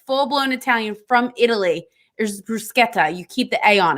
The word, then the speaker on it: bruschetta: Bruschetta. It's not bruschetta. That's not it. It's bruschetta. No, it's not. The CH sounds like a K. It's bruschetta. That's how you say it.